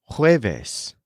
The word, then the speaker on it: jueves: The word for Thursday is jueves, spelled J-U-E-V-E-S. Jueves. For example, Thursday is my longest day. El jueves es mi día más largo.